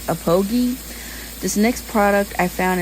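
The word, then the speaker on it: Aphogee: I read it APHOG, but I heard it's Apogi.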